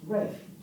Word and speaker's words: Ralph: I found that his name was pronounced Ralph, because that's how it was written, phonetically, when other people referred to him.